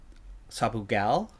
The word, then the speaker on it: Sabugal: Sabugal makes fruit.